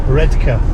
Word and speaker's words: Redcar: Middlesboro to the coastal town of redar or redka as the ls pronounce it let's see what we